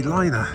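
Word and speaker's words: Leine: The River liner l e i n e liner I would say that's the pronunciation it's uh it's not the riverine by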